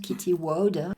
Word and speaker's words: Kitty Woude: Celle qui organise depuis de très nombreuses années la semaine francophone, c'est une médium hollandaise, donc je vais le prononcer à la flamande, Kitty Woude, qui organise ça.